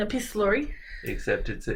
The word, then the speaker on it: epistolary: Except it's an epistolary. I just Googled epistolary novels. I can't say that word. How did you pronounce it?